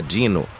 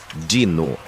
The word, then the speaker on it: Dino: Ele apertou os olhos para o papel e disse: "Contratada, Dino". Ele pronunciou dino. Na verdade é dino eu disse. Tipo dinossauro. Ele me olhou feio.